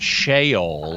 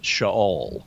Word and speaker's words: Sheol: It is not Sheol, it's Sheol. Good. Well, thank you. I learned. If I lie down in Sheol, you are there too.